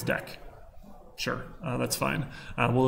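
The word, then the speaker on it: deque: that we'll do stacks cues and this is pronounced Dex someone told me not DQ I thought it was DQ apparently it's deck sure uh that's fine we'll look at those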